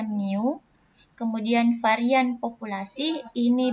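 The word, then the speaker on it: μ: hurufnya jadi Amin populasi simbolnya adalah new ini bacanya Miu kemudian varian populasi ini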